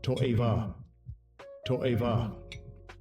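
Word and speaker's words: תועבה: Pronounced H8441. Toa toa.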